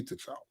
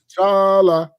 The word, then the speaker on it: T'Challa: But see, I think it's also the way we would say T'Challa. Right. With the end inflection going up T'Challa.